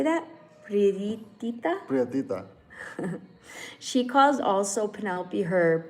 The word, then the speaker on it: prietita: Prietita.